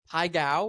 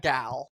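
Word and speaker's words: Pai Gow: Py ga. Not gal. Ga.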